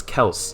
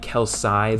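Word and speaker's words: Kelce: you would pronounce that there's not like a y there it's k-e-l-c-e that's Kels like you don't say the word else Els e you don't say that LC you know what I mean it's just an e there's no y at the end or like an I that would be kelsai though so I don't know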